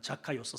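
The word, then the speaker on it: Ζακχαῖος: 이름이 히브리 저기 헬라식 발음은 자카이오스입니다. 자카이오스.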